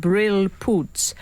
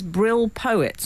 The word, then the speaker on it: brilpoets: In Holland, the word for a wet wipe for your spectacles is pronounced brilpoets, but it says brill poets on the packet, which I always read